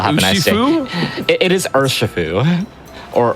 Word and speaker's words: Urshifu: It is Urshifu. Or Urshifu, depending on your pronunciation.